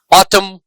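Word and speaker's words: autumn: जैसे column ऑटम इनमें N silent है। इस एन का प्रोनंसिएशन नहीं हो रहा है।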